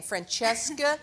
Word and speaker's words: Francesca: it up and it's like my name Francesca she see it every time you have see followed by a vowel in Italian it's ch ok I just I tell